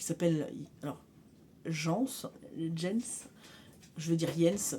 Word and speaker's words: Jens: Donc il y a un petit garçon qui s'appelle Jens, je veux dire Jens, parce qu'en général le J se prononce Y. Enfin I quoi.